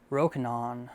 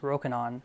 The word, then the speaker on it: Rokinon: Rokinon, that's how they say it in US, Rokinon, or Samyang Optics.